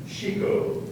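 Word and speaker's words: chicot: Chico. Part of speech, please. I beg your pardon. The emphasis on the second syllable.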